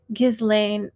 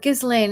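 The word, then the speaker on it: Ghislaine: transcript of an interview with Jeffrey Epstein's accomplice, Gizlane.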